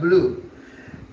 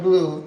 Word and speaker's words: bleu: Even though in French it's le cordon bleu, right? Bleu, not blue.